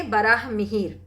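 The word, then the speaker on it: वराह मिहिर: देखिए दो बार पढ़े गलत ही पढ़े। बराह मिहिर लिखा हुआ है। ठीक है? सही से उच्चारण करेंगे। बराह मिहिर।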